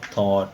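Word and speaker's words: thought: आगे जो जी और एच है ये साइलेंट है, अब साइलेंट वर्ड की अलहदा लिस्ट बना लें, फिर आपको स्पेलिंग आसानी होती जाएगी। और लास्ट पे टी की आवाज़ आएगी थॉट।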